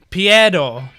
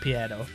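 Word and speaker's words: Pierrot: By looking at the hiragana of how they write their own company name, it looks like it's pronounced Piero. Okay.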